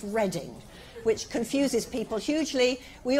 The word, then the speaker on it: Reading: the University of Reading that's how it's spelt but it's pronounced reading which confuses people hugely